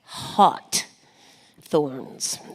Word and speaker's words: HawtThorns: And it's kind of like haughty, like haughty, like HAWT, and then THORNS. You got it. HawtThorns.